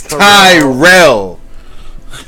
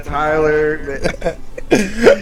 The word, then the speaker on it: Tyrell: You know how it's supposed to be. You know, it's Tyrell. Alright, whitewashed my man's made him Tyler.